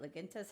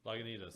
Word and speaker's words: Lagunitas: Laguntas? How do you say that one? Lagunitas.